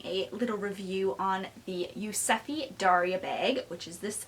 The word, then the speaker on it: Yuzefi: this bag is from a designer brand called yusefi uh so this is the dust bag but